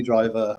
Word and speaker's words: Driver: surname right for no it's definitely driver as in bus um yeah thank you